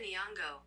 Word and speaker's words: Nyong'o: See, Lupita Nyong'o. There you go. see, we gotta Google people's pronunciation for their names.